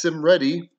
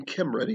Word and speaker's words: Cymredd: people might think it's sim ready maybe even kim ready if you want to go with a hard c which is what you should be doing um but it's actually